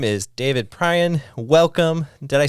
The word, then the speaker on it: Prian: His name is David Prian. Welcome. Did I say it right? You did. Awesome. Yes. I mispronounced your name earlier today, and you're like, no.